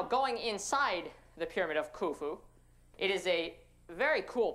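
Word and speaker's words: Khufu: the Great Pyramid ofu it's spelled like kufu but you had to say it with an accent and kind of roll your knees forward kuu this is the tallest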